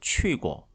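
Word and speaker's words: 去过: 취 고 항 고마 여기 꼬는 4성 으로 되어 있지만 보통 언제 경성으로 가볍게 발음을 하죠 그래서 취 고 이렇게 발음을 해주시는게 좋겠습니다 대담 가봤습니다 그러면 취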